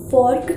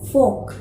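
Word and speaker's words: fork: तो इसको हम लोग फर्क नहीं कहते इसको हम लोग फॉक बोलते हैं फॉक चाहिए एफ ओ आर के तो ये हो जाएगा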